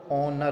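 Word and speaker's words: honour: ऑनर होगा। मतलब इसमें जो एच है, शुरुआत का एच, ये साइलेंट रहता है, तो ऑप्शन नंबर बी इसका सही रहेगा।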